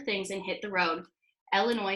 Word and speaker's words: Illinois: and hit the road Illinois says yes my name is Illinois and I need one airline ticket to onwell Illinois no the S is silent New York is looking